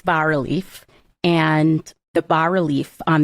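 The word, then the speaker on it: bas-relief: Is but there's an S in it but it's but it's pronounced I believe the S is silent.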